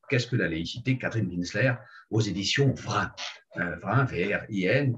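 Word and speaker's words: Kintzler: paraissent du plus haut intérêt, qui s'appelle Catherine Kinsler. Catherine Kinsler, ça s'écrit K-I-N-T-Z-L-E-R.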